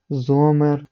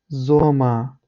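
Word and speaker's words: Sommer: як говорять це німці але в кінці слова як я вже згадував вона не завжди читається і є такі слова як дер ІР ер зомер васер лірер як я вже казав варшалі це неправильно читається правильно воно буде звучати без читання чіткого р Скоріш буде ніби р перетворюється на ар але ар майже не чути тобто тільки а а Іа іа зома Васа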